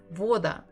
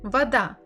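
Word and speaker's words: вода: but we have vo it's another hint that the stress is not on the first syllable it's not an all right so Vada Vada I know that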